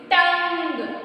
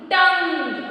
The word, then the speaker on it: tongue: Tongue. Okay, here O is silent, children. Only we have to read short vowel U sound, that is A.